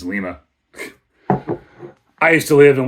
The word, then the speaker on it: Lima: It's Lima. I used to live in Western Ohio near a town spelled Lima, and everybody pronounced it Lima.